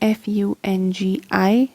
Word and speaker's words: fungi: can pronounce it as fungi, or you can pronounce it as fungi. So it's up to you which one you would like, but all 3 of them are correct.